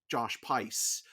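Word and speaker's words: Josh Pais: The other thing that this movie gets an extra bump for, and we've been saying his name wrong the whole time. Josh Pice.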